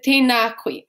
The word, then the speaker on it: tēnā koe: And making sure we pronounce the macrons, the tohu tō on tēnā. So it's not tēnā, it's tēnā. Tēnā kōrua.